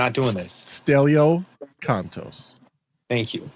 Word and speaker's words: Stelio Kontos: Stelio Kontos.